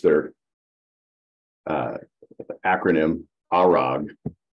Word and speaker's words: ARAG: r a is a German company and they pronounced their uh acronym arog not AAG arag that's how they say it but anyway if